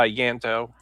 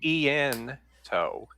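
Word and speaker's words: Ianto: Uh Yanto. Yanto. Or you could actually say eento. So the I is a hard eye like the middle English eye.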